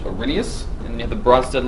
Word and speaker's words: Arrhenius: to know these two this big word up here in the top left is pronounced Arrhenius and they have the